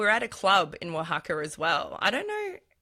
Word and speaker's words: Oaxaca: I highly recommend going to Oaxaca. It's spelt a little bit different. It's spelt Oaxaca, Oaxaca.